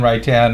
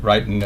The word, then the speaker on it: Wrighton: I answer to many variations, but yes. Wrighton. Wrighton I go by, but Wrighton is perfectly acceptable.